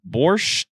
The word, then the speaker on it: borscht: Borscht is a soup. How do you pronounce that?